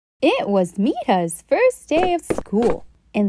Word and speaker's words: Mirha: She shyly stood in front of the class and said, My name is Mirha.